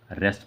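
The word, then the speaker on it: wrest: की okay रेस्ट आराम रेस्ट इसमें डबल साइलेंट है रेस्ट पढ़ेंगे इसको रेस्ट मींस होता है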